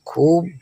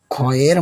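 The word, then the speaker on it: خ: খয়ের মাথার উপরে একটি নোক্তা। এটি আমাদের কণ্ঠনালীর শুরু থেকে আসবে। একটি গাম্ভীর্য নিয়ে মোটা করে বলুন খ।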